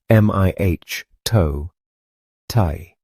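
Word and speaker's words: mitote: Your whole mind is a fog which the Tolteks called a mitoi pronounced m ih toe tai.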